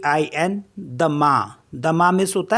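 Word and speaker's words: demain: है Tren D ई एम ए आई एन दमा दमा मीस होता है टुमारो एंड सी ओ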